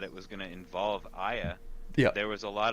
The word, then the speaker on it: Aya: And then is it Aya or A? How do you say her name? Aya. It is Aya.